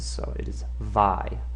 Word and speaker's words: Weimar: And those of you who take German, you know that those W's are pronounced like V's, so it is Vi, not Weimar.